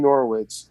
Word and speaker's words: Norwich: eat for sustenance right norwich rhymes with sandwich right you know what's